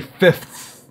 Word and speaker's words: fifth: you could say January 5th. Now, that is one of the most difficult ordinal numbers to pronounce because we've got the F, and then we've got another F, and then immediately after the TH.